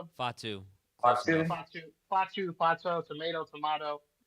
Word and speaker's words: Fatu: it's just going to be him babysitting Jacob Patu. And no, and and Jacob Patu, did I say it right? Did I get it right? Jacob Fatu Fatu Fatu Fate tomato tomato.